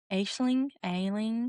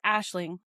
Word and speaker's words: Aisling: Ailing. I think it's Ailing. Yes, so I can't pronounce English words, let alone any other nation's words. So, The Compound by Layne Rawle, and I stand corrected, it's Aisling.